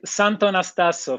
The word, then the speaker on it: Santonastasso: thank you very much exactly so it's santo nastaso for everybody in pronunciation very exactly italian words but i like it